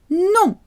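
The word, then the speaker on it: nom: is no no no the word for name sounds the same as no in french no people will often try and pronounce the m but no you don't do that so no and name sound exactly the same no the context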